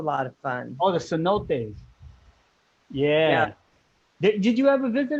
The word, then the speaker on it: cenotes: heck of a lot of fun oh the cenotes yeah did you ever visit a cenote i